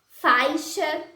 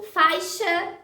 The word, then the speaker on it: faixa: O ditongo AI, quando aparece antes da letra X, pode ser pronunciado como A. Por exemplo, faixa, embaixo, dizemos faixa, embaixo.